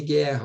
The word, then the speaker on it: guerra: e não h h tá diferente de guerra ó em guerra né o Gu ali o uinho não é pronunciado por isso que eu